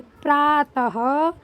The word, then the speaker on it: प्रातः: त को ता पढ़ेंगे और बिंदियों को हा पढ़ेंगे। प्रातः काल, प्रातः काल।